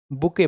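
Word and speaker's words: bouquet: बुके हो गया, बुके, बकेट नहीं, बुके, ठीक है। बकेट का स्पेलिंग शायद ये होता है BUCKET, बकेट, ठीक है।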